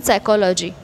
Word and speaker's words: psychology: sometimes h is silent sometime p is silent in psychology so that is sound